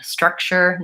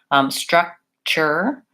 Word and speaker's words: structure: Structure, nature, future, all of those have this suffix T-U-R-E, and it sounds like chur.